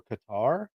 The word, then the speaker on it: Qatar: Marjorie Taylor Greene, the cracks in MAGA over Qatar, as it should be pronounced.